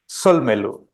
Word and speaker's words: Solmelu: It's called Solmelu. It has 3 syllables, Solmelu.